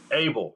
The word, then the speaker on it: Abell: grand introduction i want to say your last name wrong how you say your last name coach abel hey baby i was going through that some